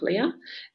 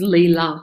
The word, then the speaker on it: Leela: Let me have a look, Leah. Sorry, I think this is Leela. Sorry, I think I might have said your name wrong. Sorry, Leela.